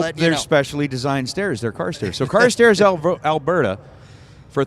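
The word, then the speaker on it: Carstairs: I mean, maybe it's pronounced differently, but it I mean, C A R S T A I R S. Car stairs. It is. It's car stairs. That's what I've been saying.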